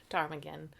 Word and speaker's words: ptarmigan: jardim again super announced ptarmigan but it's like Patera dactyl the PSI term again why can't you hear at Armageddon go to the bathroom cuz the P is silent there's a town in